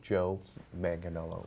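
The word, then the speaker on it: Joe Manganiello: solo film Joe manganello see Daniel Kuper it's pronounced Joe manganello I'm sorry I'm all stuffed up he knows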